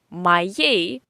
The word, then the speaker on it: моей: Моей, interesting word, because you see that here is written O, моей, but we say моей. You remember, I already warned you about the Russian stress. So, O in unstressed position we pronounce as A, моей.